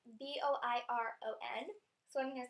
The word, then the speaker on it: Boiron: I use these Boiron, I think that's how you pronounce it. It's Boiron.